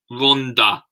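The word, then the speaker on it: Rhondda: The episode in Fulbit at the head of Rodonna, pronounced Rhonda.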